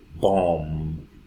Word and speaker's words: bomb: So there is an M, there is a B, so the B is silent. Climb, climb. Bomb, bomb.